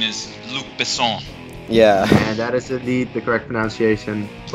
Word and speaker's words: Luc Besson: Luck Besson. That's a way of pronouncing it, but we will accept that answer. Yep. And Ryan, did you get that too? The correct pronunciation is Luc Besson.